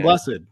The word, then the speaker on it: Blessed: a Brian blessed or I don't know if his last name is pronounced blessed it's blessed yeah is it yeah